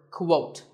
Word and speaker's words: quote: Up next is the word quote. This is not pronounced the same as coat.